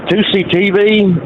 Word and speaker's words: Tousi: On Scenic Route was talking about 2CTV. It's if you're not familiar, it's spelled TOUSI. It's Mayhar 2C, and his father sent